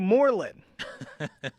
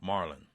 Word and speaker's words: Morlon: So it's pronounced Marlin, like you spell M-A-R-L-O-N, but Yeah. actually spelled M-O-R-L-O-N.